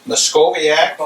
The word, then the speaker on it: Myckoviak: and we're talking to uh muscoviac that's how that my family always said is that the correct pronunciation of your name yes and just